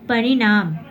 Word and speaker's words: परिणाम: भी उच्चारण करते हैं, प्रणाम ण आया, तो ये हुआ इस प्रकार, जैसे कुछ इसमें अपवाद ही माने जाते हैं। परिणाम ण, जो हम लोग को ये उच्चारण, न का उच्चारण इसमें नहीं आ रहा है, ठीक है।